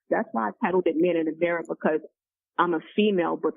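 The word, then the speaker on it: woMAN in the Mirror: And that's why I titled it Man in the Mirror. And actually it's spelled woman, but the W-O is very silent. And the M-A-N is capital. So it's Man in the Mirror.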